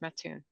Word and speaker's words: Mattoon: That's correct, Mattoon. All right, Mattoon rhymes with other things I won't say out loud, but spittoon.